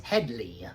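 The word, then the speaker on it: Hedley: I don't think Hedy even Lamarr like sometimes they get it, they mispronounce his name. It's Headley.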